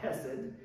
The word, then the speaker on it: hesed: It's called hesed.